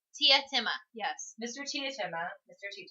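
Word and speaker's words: Teatime: But he says it's pronounced Tietima, yes.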